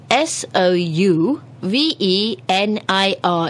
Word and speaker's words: souvenir: souvenir it is spelled s o u v e n i r it's actually a French word comes from the French originally anyhow souvenir it's something